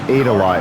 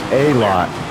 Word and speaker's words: Aydelotte: I think it was pronounced Adela. It was spelled Aydelotte, but I actually thought the D was silent, and I pronounced it as A-Lot, which is why it sounds similar to Elliott.